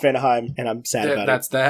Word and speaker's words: Vanaheim: So yeah, Vanaheim is pronounced Vanaheim, and I'm sad about it.